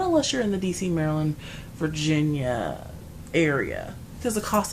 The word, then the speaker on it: Maryland: called it he was from Virginia and he pronounced Maryland Merlin I said Merlin is the wizard and the author entails knights of the round table also it's a tire company it's pronounced Maryland yeah that's what I said Merlin I said